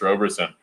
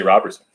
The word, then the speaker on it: Roberson: So I've always been like, give me some more Chris Roberson. Well, I used to say Robertson, so I wasn't always like that.